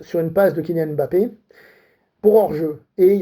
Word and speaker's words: Mbappé: Mbappé, ça se lit, ça ne se prononce pas. C'est pas Mbappé, c'est Mbappé. Mbappé, il a eu ce